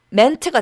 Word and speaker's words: meant: 발음은 ment가 되고 과거 분사도 meant 이렇게 됩니다.